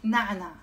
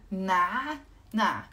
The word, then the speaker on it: نعنع: جيمس is asking me شو يعني منت يعني نعنع نع هو عين ن اي ع نع نع نعنع اوكي ذاتس منت نعنع اوف بعد في